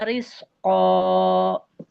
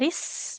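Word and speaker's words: رِزْقًا: wajada indah rizqa. Tidak ris, ini huruf zai. Tahan aliran nafasnya. Jadi tidak jadi sin ya. Riz, mirip Z.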